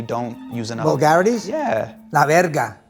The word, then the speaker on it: la verga: La verga. La verga. La verga with your dick. But the dick means good. La verga sounds like... No, la verga. Oh, so... It's how you say it, la verga.